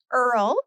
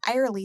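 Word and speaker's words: Irle: i l e so whenever telemarketers would call back in the day they would say it's Mrs IR there which we all knew was a telemarketer so of course we would say no she's not here because it was Miss Earl so wait a minute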